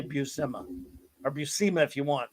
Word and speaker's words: Buscema: Buscema. Well, I remember there was an issue of Nova where Sal Buscema, Nova went to the Marvel offices and he met Sal Buscema, and he said, "How do you say?"